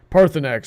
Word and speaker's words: Parthurnax: Heather, pronounce that dragon name. Parthenax.